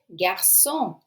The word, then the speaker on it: garçon: La réponse est, l'erreur dans la phrase est garçon. Garçon s'écrit plutôt avec un CCDI.